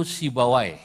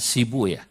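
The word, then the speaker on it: سيبويه: siapa beliau sibuyahuna asluhu sibawai dalam satu lughat dibacanya sibuah untuk menyesuaikan wazan sebab kalau pakai sibawai Huna enggak ketemu wazannya maka saya pakai satu lghat yang membaca sibawai dengan sibuya sibuya Huna khalilu Abul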